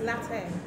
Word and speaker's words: latte: Yeah, so you're saying late, but it's latte.